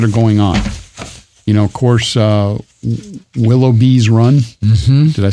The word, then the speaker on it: Willoughby's Run: Of course, Willoughby's Run. Mm-hmm. Did I say it right? Gotta have the S.